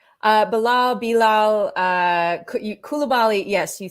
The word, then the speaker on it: Coulibaly: Bilal Coulibaly.